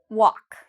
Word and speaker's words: walk: Do I pronounce every letter? No. Walk. Okay, so the L, if you said the L, I'm not pronouncing the L.